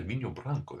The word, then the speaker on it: vinho branco: So now I'm drinking sipping on a white product, a Vinho, I would say Vinho Branco, that's how they say it, yeah, from over.